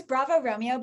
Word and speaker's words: Bravo X Romeo: Yeah, so it's Bravo Romeo, but I couldn't get the Bravo Romeo everywhere. So I just made the X be a little silent X.